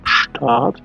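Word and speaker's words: Staat: Читается оно по-немецки как «штат», то есть немножко длинное «а», и оно созвучно, конечно же, логично созвучно словом «штат», что значит «город».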